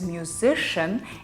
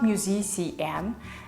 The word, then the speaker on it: musician: other rules for example if you teach your kids that this word is musician and not musi cm they'll automatically know that this word is delicious and not Delisi house if this didn't magically